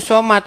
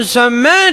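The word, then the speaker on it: صمد: Saya bacanya begini. Qul huwallahu ahad, Allahu somad. Dimarah saya. Dimarah. Coba Bacanya bukan begitu. Coba Bang artinya Bang. Bacanya harus Coba begini. artinya. Qul huwallahu ahad, Allahu samad.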